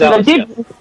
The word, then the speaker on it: ALIS: And am I pronouncing that correctly? It is ALIS.